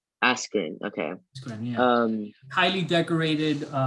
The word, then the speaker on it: Askren: I don't know how to pronounce it. Ben Askren. Askren.